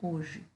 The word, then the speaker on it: hoje: Porque a letra H, ela não tem som, né? Então, o que que eu tenho se eu fosse escrever os fonemas da palavra hoje? Eu ia escrever como entre barras o, j, e.